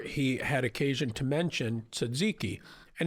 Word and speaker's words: tzatziki: had occasion to mention tzatziki and he pronounces it it's like Probably like a real Greek person would. no. It's tazakai or something insane. Like no one has ever pronounced it like that.